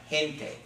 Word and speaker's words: gente: be the good sound if it has an e or an i it's gonna be the hook sound like gente okay you got that